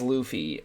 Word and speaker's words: Luffy: video that said um his name is Luffy not Luffy not loafy it's Luffy and I don't blame him because it does look like it's not it's spelled like Luffy yeah um thing too